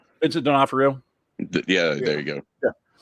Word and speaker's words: Vincent D'Onofrio: Vincent D'Onofrio.